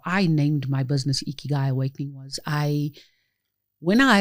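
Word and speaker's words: 生き甲斐: Eeky Guy is a Japanese word that means reason for being. Okay. And how that came about and how I named my business Eeky Guy Awakening was I when I had um realized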